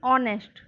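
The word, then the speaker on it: honest: अब आगे देखते हैं एन ऑनेस्ट, एच हमेशा साइलेंट रहता है और इसे बोलेंगे ऑनेस्ट।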